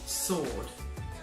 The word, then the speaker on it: sword: the correct pronunciation is sword so the W is actually silent the next word is